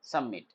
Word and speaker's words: submit: अब सबमिट में क्या है कि बी साइलेंट है। देखो, सम में ब का साउंड आ रहा है, नहीं आ रहा है, सबमिट आ रहा है सीधे, सबमिट, सबमिट, ये बात याद रखना।